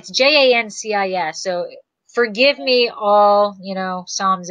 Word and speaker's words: Jancis: I always say Janice. Yeah, but it's Jancis.